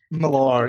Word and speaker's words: Millar: Millar, and Okay, Oh, is that how it's pronounced? Millar? Millar, yeah.